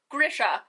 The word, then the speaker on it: Grisha: no there's no e there's no long accented i it is grisha this is the hill